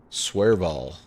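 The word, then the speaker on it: Svolvær: Svolvaer.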